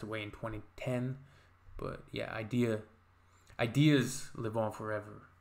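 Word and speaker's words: Eyedea: Rhymesayers Entertainment sadly passed away in 2010, but yeah, ideas live on forever, right? Even if the artist passes away. But Idea, it's spelled E-Y-E-D-E-A.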